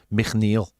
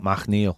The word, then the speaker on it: McNeil: Rob, the East Belfast Toffee, says, his name is pronounced McNeil, not McNeil. Fact.